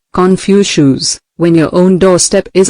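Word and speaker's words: Confucius: Don't complain about the snow on your neighbor's roof, said Confucious, pronounced Confucious, when your own doorstep is unclean.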